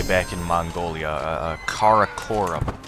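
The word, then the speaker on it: Karakorum: So, I knew that Caracorum was uh important and that I was pronouncing it wrong. I called it Carorum. I think that was just me not reading it correctly.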